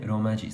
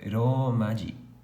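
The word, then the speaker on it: ローマ字: Isso aqui não é um tio, isso aqui é um prolongador. Então, ou seja, você não lê Romaji, você lê Romaji. Então você prolonga a pronúncia do O.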